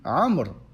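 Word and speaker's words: عمرو: Ou bien, par exemple, comme on avait dit au début, Amr. on a rajouté un waouh et on ne le prononce pas.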